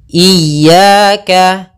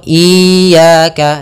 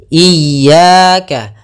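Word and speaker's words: إِيَّاكَ: kita ulang iyaka iyaka ada dua kesalahan yang sering terjadi dalam pelafalan iyaka yang pertama memanjangkan I memanjangkan memanjangkan I apabila dipanjangkan huruf Inya banyak contoh iaka salah karena dia memanjangkan yang kedua adalah menahan iaka itu salah juga harusnya dia cukup menekan linnya iyaka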